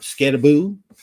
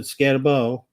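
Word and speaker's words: Skattebo: Cam Scat Scataboo. Sorry, I almost said Scatabau.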